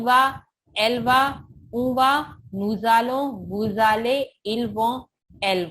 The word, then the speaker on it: nous allons: Nous allons au restaurant. With nous, allons come together, we pronounce this nous allons.